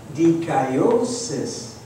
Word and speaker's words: dikaiosis: in the Greek language, is spelled D-I-K-I-O, and now we add the suffix S-I-S, and is pronounced dikaiosis.